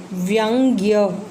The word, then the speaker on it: व्यंग्य: व्यंग्य की स्पेलिंग ध्यान से देखिए, व्यंग्य इसको हम प्रोनाउंस करेंगे तो उच्चारण क्या है, व्यंग्य।